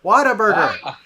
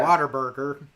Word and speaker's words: Whataburger: whataburger so come on so i said it right i said it right down yeah but a lot of people just say whataburger around here you know yeah water burger whataburger that's that is a texas tradition right there exactly so although it's